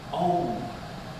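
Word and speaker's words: Aum: And Om is spelt A-U-M. It's just like I am. Om.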